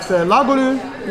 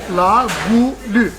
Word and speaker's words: Goulue: But Goulue was the very first French bistro that ever opened in the United States.